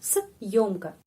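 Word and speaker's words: съёмка: Terus di sini ada tanda penguat. Tanda penguat itu tanda yang stop ya. Tanda stop seperti dalam kata Jumat ini. Ini tanda penguat untuk bahasa Rusia ini. Ini. Jadi di sini stop sebentar. Se se stop sebentar langsung huruf yo.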